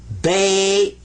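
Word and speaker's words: بيت: Sukoon means don't pronounce it, but give it some value anyway. This is bait.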